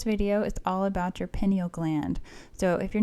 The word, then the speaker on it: pineal: I might say pineal gland. Sometimes I get it confused. It's pronounced pineal, but I like to say pineal.